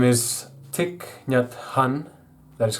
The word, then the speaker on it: Thich Nhat Hanh: His name is Thich Nhat Hanh, that is how you pronounce it.